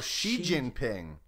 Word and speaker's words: Xi Jinping: Let's see what the internet would tell me of how to pronounce Winnie Jinping. God. Why do you do this? Oh, Xi Jinping.